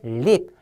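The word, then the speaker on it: leap: 자, 요것은 립입니다. L 발음 립.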